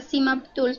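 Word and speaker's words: CmapTools: en semap Tools Bueno realmente se pronuncia simap Tools pero se escribe Tools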